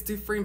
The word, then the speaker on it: Dufrene: little bit all right his name is Jeremy duine and I say it's dine because that's how it's pronounced I know because I am from Louisiana